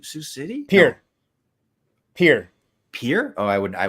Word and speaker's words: Pierre: and well it says Pierre and anybody not from South Dakota would call it Pierre but we're from South Dakota so we call it Pier so you're not from